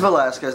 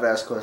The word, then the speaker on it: Velasquez: Like, it's Velasquez, not Vasquez.